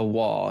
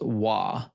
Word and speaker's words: vav: vav is actually a wah. It's pronounced wah. Uh not vav. The the v vocalization is for modern Hebrew.